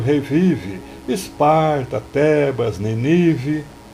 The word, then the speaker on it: Nínive: vive Esparta thebas nínive a pronúncia correta seria nível antiga cidade da assíria mas fazendo uso novamente Dá licença poética já mencionada o poeta desloca o assento para o verso rimar com a flexão verbal revive do verso anterior